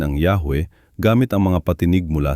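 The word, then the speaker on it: Yahweh: Ang mga eskolar ng bibliya ay patuloy na nagtatalo kung ano ang tamang pagbigkas ng pangalang ito. Ngunit ang karamihan ay sumasang-ayon na ang pinakamalamang na pagbigkas ay Yahwe.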